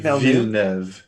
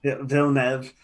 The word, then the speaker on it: Villeneuve: Denis Villeneuve. Villeneuve. Yeah. I can't pronounce it.